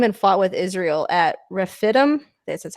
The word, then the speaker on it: Rephidim: Then Amalek came and fought with Israel at Rephidim.